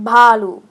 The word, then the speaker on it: Baloo: You're calling Baloo a bear, and it's not pronounced Baloo. It's pronounced Balu.